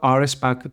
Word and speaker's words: Rspack: This is how Rspack is actually pronounced.